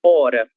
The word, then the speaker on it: hora: A palavra hora, a mesma coisa. Tem a letra H no começo, mas em razão da posição inicial dessa letra, ela não deve ser pronunciada. Ou seja, ela é uma letra surda, ela não tem nenhum som, certo?